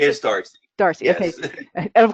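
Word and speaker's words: D'Arcy: Is that how you pronounce it? Is Darcy.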